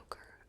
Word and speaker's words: ochre: I said okra this time because it's spelled O C H R E. So maybe it's okra, not ochre. Okra, like the vegetable. That's not how it's spelled either, the vegetable, the vegetable. But I'm going to stick with ochre.